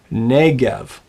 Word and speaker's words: Negev: But it's not the Negev, it's the Negev. Say that after me. Negev. That's right, the Negev. The accent falls on the first syllable.